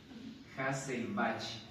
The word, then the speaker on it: Hesselbach: conoce como triángulo de hassel Bach se escribe se lo pronuncia hasselbach hesselbach creo que se